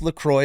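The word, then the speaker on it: LaCroix: It's Laqua. It's Laqua. That's how you pronounce it."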